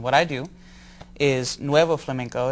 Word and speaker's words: flamenco: What is the correct way to say it? And smack me when I'm wrong. Flamenco. Flamenco.